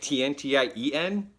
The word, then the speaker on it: Tian: can you fix me Tian Tian how you say it because that's also like a name right tian TI en but you write Tian Tian because you could say